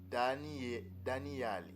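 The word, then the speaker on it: דניאל: Et on dit prononciation Daniale.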